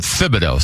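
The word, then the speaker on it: Thibodeau: Is it Thibido or Tibido? The nickname is Tibs, but you pronounce it Thibido.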